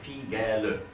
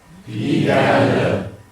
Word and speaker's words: Pigalle: But as we sing in a song, we pronounce each of the vowels. So we actually say Pigalle. Pigalle.